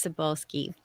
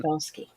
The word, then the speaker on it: Cybulskie: And you are asking how to pronounce my last name. Everyone stumbles over it, so don't worry about it. It's Cybulskie. Um, Cybulskie.